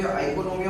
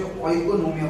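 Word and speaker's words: οἰκονομία: कई बच्चे आइकोनोमिया बोलते हैं, कई बच्चे ओइकोनोमिया बोलते हैं, ठीक है, ओइकोनोमिया। तो economics word is taken from the Greek और लैटिन लैंग्वेज, ठीक है, व्हिच मींस ओइकोनोमिया।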